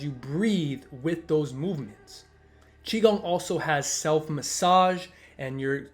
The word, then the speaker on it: Qigong: Taoism is spelled with a T, but it's pronounced with a D, Taoism, and Qigong is spelled with a Q, but it's obviously pronounced Qi.